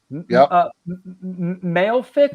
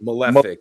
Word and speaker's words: Malefic: alloy rain the erotics right maleic am I pronouncing that right malefic yeah yeah and concrete and uh